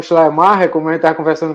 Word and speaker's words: Schleiermacher: Geralmente essas palavras alemãs são compósitas, né? São compostas. Então a gente tem que partir elas para poder pronunciar. Então, Schleier, né, o primeiro, e depois Macher.